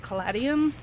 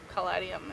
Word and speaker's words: caladium: And then these, I think it's pronounced caladium.